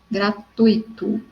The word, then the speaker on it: gratuito: Igual gratuito e não gratuito. Então, é gratuito, tá? E também a sílaba tônica é o tui e não o i.